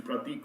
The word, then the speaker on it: Prathik: spelling of my name my name is pratik and it's spelled as p r a p h i k it's it's pratik with an h i k g o